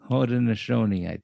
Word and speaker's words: Haudenosaunee: Haudenosaunee.